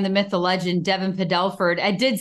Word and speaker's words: Padelford: I'm always like, it's Padelford, not Paddleford.